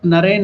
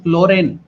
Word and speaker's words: Naren: Brother Loren, see, because of his Bihari accent, Latu couldn't pronounce Naren. He used to call Naren as Loren.